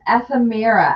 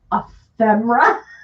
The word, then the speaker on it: ephemera: what all these people keep talking about this effemira i'm like excuse me he's like yeah after mira i'm like ephemera he's like huh well that's not how what the that's not how you phonetically say that i was like it's ephemera ephemera we teased her forever